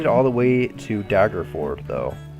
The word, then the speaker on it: Daggerford: So the first thing that happens while you're in Daggerford, I think it's how you say it, Daggerford. Where is it? Hard. Fjord? Yeah, Daggerford. Fjord. It's like a ford and a dagger combined, Daggerford.